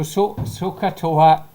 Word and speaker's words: SOHCAHTOA: So soka toa catch your session. So shin SOHCAHTOA. So shin doyale. Can you pronounce it to her?